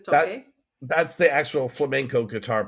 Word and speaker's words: toque: So, there's the the cante, which is the singing, and the toque toque tocu, I don't know how you pronounce it. You you're better toque. I think it's toque.